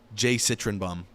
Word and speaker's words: jcytrynbaum: able to understand so there you go no pronounce it Jay citroenbaum okay yeah cool yes and then uh I